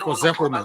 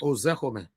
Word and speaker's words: Ozekome: Can you help me pronounce that name, please? Mike Ozekome. Ozekome.